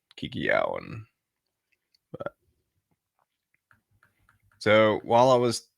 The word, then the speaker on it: Kikiyaon: I mean your spelling you're sounding it out phonetically so Kiki Kiki and then y-a-o-n Kiki Yao and so while I